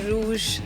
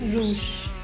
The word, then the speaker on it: Roosh: So we'll say Rouge Sindhu. Yes, rouge. People, you were saying it wrong all your life. It's Rouge Sindhu.